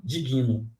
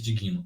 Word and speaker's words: digno: Digno não é assim se separa senão vai ficar mesmo que eu falei lá em cima digino que que é digno não existe digno é digno digno Digno e eu não posso colocar junto senão vai ficar di dig nu tá esse G ele tem